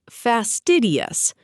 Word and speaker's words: fastidious: Fastidious, pronounced as fastidious.